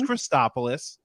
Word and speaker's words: Christopoulos: So just full disclosure, people screw up my last name pronunciation all the time. It's Christopoulos, and I'm going to take a swing at it and you tell me how I do.